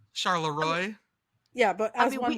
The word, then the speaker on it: Charleroi: Like the French way, but you pronounce it the way that I said it. Charleroi.